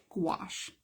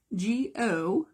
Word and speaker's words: gouache: This word today is the word gouache. And I'm going to spell it for you. It is Gouache. Gouache. I think it's French. I think it is a French word.